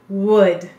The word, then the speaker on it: would: to be telling you you're right there's a silent l so there's going to be a pattern to these words so be watching me we'll just send out wood this is an uh silent l d got it go ahead and write would and make sure you put in that silent l excellent now help me